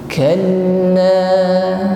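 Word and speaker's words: كلا: Kalla, huruf lam ditekan membacanya karena berharakat tasydid. Kalla, dan kita panjangkan dua harakat. Dua harakat sama dengan dua ketukan, atau kita gunakan satu ayun.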